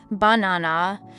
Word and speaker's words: banana: than others for example in the word banana we stress the second syllable banana but in a sentence